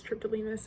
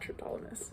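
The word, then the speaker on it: Triptolemus: in class today that I was pronouncing his name as triptylineus and not tryptolumus so I do apologize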